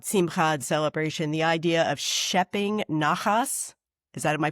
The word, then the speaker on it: shepping naches: This was in a different chapter, I think, talking about Simchad celebration, the idea of schepping nachas. Am I pronouncing it?